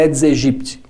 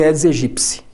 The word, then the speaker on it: Aedes aegypti: ao mosquito da dengue o mosquito é aedes aegypti que a pronúncia certa Aliás ele é dos egípcia Mas não tem problema